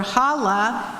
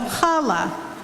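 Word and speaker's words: challah: Malu on page 243 some people have difficulty pronouncing their H sound the gutural is found in Hebrew Yiddish German and Spanish but not in English many Jews and non-jews say Hanukah instead of Hanukah or Hala instead of Hala this mis pronouncement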